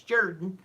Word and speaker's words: Jordan: I always have to remind me, even though it's spelled Jordan, it's Jordan. Jordan Hare.